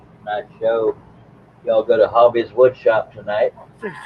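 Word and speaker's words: Havi: The show will be called Hobby Unboxed. Hobby is spelled H-A-V-I, as in J-A Victor I.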